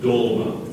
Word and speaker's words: dolma: in a sentence please LNA stole the last dolma from her brother's plate could you repeat the alternate pronunciations again please I'll give you both dolma